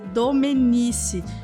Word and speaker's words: Domenici: recebemos algumas reclamações porque eu pronunciei o sobrenome do Thiago com sotaque italiano inclusive da Dona Zilda a mãe do Tiago Então a partir de hoje a gente vai dizer domenici me desculpa dona Zilda